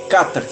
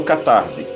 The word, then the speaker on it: catarse: como cata se ok a pronúncia correta seria essa carta e não cá tarde mas o que ela